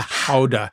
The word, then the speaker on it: Gouda: Have you had the Gouda from Costco? Or as some would pronounce it, the howa because I've been researching Gouda cheese.